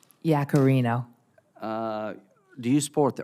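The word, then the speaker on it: Yaccarino: Linda how do you say your last name Yak Carino uh do you support the earned act on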